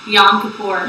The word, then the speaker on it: Yom Kippur: So, pronounce it for us. Yom Kippur. Yom Kippur. Now, Yom Kippur, this is right.